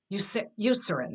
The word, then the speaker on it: Eucerin: Eucerin. Eucerin, that's it.